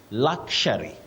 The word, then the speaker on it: luxury: Now, Emily Kawera of Dhika, you say luxury, luxury, not luxury. Luxury, common but wrong.